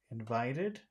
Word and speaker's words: invited: you also said invited invited invited where which syllable has all of the power in invited Vite Vite okay invite Ed just vi just vi v invite invited yes yes so so we